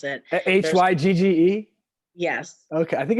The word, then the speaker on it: hygge: how to pronounce it hygge yes okay i think it's hugga i think it's yeah something like that yes i still don't